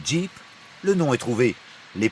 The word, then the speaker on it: Jeep: En anglais, General Purpose, GP, GP, prononcé Jeep, le nom est trouvé.